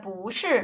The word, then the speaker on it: 不是: So that follows this rule, because 不 is followed by this fourth tone syllable, so its sound changes into the second tone, 不是.